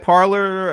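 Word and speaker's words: Parler: parlor actually you know you think it would have been spelled like that but it's p-a-r-l-e-r i don't know is that some kind of cool way of spelling parliament i don't know but anyway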